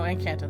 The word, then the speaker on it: Encanto: Encanto was so oh Encanto enchant and can't no Encanto that's how you say it such a good movie